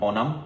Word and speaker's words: Onam: called I believe well that's o n a m and I think that's how you pronounce it on onum onum mhm uh which